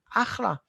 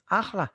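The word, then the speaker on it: אחלה: Chaf and chet, we pronounce it the same.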